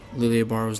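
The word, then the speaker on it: Lille Barro: I know there's a bit of debate going on right now about how to say Lille Baro's name. It actually is pronounced Lille Baro, but for my own sanity, I'm going to say Lille Baro.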